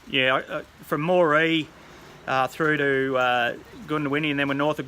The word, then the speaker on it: Goondiwindi: It's pronounced Goondiwindi by the local Aboriginals.